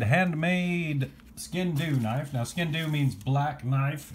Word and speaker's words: Sgian Dubh: a beautiful one-of-a-kind handmade skin new knife now skin do means black knife it's Scottish and it's spelled like that if you're from Texas I guess you pronounce it skyking W but the skin do knife is designed for a Scotsman to wear